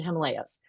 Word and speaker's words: Himalayas: If if you're not familiar with the pronunciation, we pronounce it Himalayas.